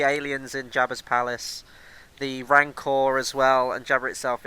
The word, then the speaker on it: Rancor: And going to the Rancor, I pronounced it wrong for the first 10 years of my life. I used to call it the Racnor.